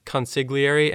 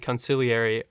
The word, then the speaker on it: consigliere: And there's another pronunciation that I worried about that's consigliere and conciliary. They say both Oh. of those in the film as well.